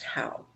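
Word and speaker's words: hau: the how tree and it's spelled h-a-u pronounced how and it's abundant all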